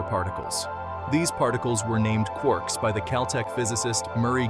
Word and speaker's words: quark: from James Joyce three quarks for muster Mark the word Quark is supposed to be pronounced like quart but with a k at the end instead of a t but is usually pron